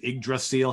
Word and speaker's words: Yggdrasil: Return to, and I'm going to mispronounce it, Yggdrasil. How do you say that? That's exactly it. Yggdrasil, okay.